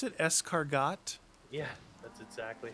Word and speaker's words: escargot: escargot is that how you pronounce it escargot yeah that's exactly how you do it that